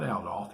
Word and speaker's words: Adolf: um adolf hitler and the pronunciation there is adolf not adolf he didn't like adolf at all matter of fact um the consequences could be severe if you called him adolf it's adolf uh he was born in